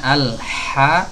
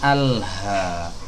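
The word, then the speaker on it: الحمد: keabsahan shalat kita ya jadi membacanya al-haq dari tenggorokan Tengah bukan alhabd bukan tenggorokan bawah ya bedakan tenggorokan Tengah dengan tenggorokan bawah kalau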